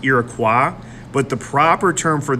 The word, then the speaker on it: Iroquois: Did you know the term Iroquois is actually pronounced Iroquois, but the proper term for this group is really the Haudenosaunee.